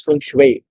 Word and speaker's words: feng shui: for today is basic feng shui it's it's pronounced as feng shui for the real estate folks no it's not